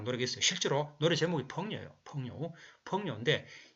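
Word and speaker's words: 朋友: 그래서 이 중국말로는 펑요라고 해요. 펑요. 그죠? 붕, 발음 비슷하죠? 그죠? 펑요, 중국말로.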